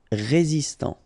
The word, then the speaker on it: résistant: Résistant. Final T not pronounced. Résistant.